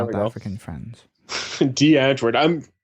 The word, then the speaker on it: Die Antwoord: D. Antwoord. Thank you for actually pronouncing it correctly, by the way. Yes. Because everyone's like, "Hey, bro, have you heard Die Antwoord?"